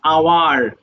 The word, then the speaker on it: hour: যে I read one হাওয়ার ইন the morning, but হাওয়ার ইজ not correct, we have to say just hour. So h will be deducted from the word.